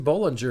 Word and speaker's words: Bolinger: we got our friend Jason Bolinger. He's a podcaster and filmmaker. That's how you pronounce his last name?